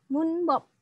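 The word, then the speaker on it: 문법: berwarna kuning ini ya Ini bacanya adalah munbob moonbow ilhafa Kak munbob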